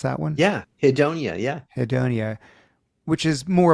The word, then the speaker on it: hedonia: And contrast that with the word hedonia. How do you pronounce that one? Yeah. Hedonia.